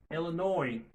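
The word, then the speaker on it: Illinois: Montana Montana Elenor Elenor comment N o I s la prononcé pas nois OK c'est nor va prononcer et puis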